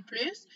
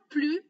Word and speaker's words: plus: On ne prononce pas la lettre S à la fin du mot plus dans une expression négative. Exemple. Esra n'a plus la force de jouer. Carlos non plus.